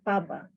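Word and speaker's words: pabwa: Later in my presentation, I will discuss more on one particular Nauruan customary practice of Paba. It is spelled P-A-B-W-A.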